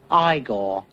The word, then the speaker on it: Igor: You must be Eigor. No, it's pronounced Igore.